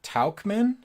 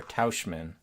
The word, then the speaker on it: Tauchman: Is it Tauchman or Tauschman? Talkman? Really? With like a L sound? Talkman.